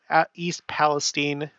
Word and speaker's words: East Palestine: had the East Palestine East Palestine and that's how they pronounce it over there East Palestine Ohio train